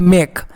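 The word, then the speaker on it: make: तो ई आपका साइलेंट है, इसको मतलब कोई मतलब इसका साउंड नहीं लेना है, मतलब नेगलेक्ट कर देना है।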